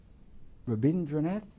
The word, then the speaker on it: Rabindranath: they would start painting now this I can pronounce it rabindra rabindran rabindranath no rindra toor t a r r e